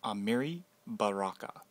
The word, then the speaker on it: Amiri Baraka: Amiri Baraka, pronounced Amiri Baraka.